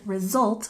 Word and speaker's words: result: we look at pronunciation in result we have a stress on the second syllable result result can you hear how the S makes more of a z sound result and we have a